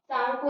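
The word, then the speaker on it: Tsangpo: तिब्बत जाती है तो इसका नेम हो जाता है सांगपो रिवर। क्या होता है सांगपो, ये इसमें टी साइलेंट है, ठीक है, इसमें टी साइलेंट है, तो क्या होता है सांगपो रिवर।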